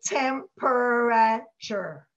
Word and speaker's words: temperature: So if you say temperature, you're not going to remember the tricky part in the middle. So overpronounce, say temperature.